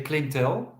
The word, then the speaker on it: Clintel: me can you give us a background about clientele how do you pronounce it first of all uh Clinton in Dutch we say Clinton it stands for climate intelligence so yeah dealing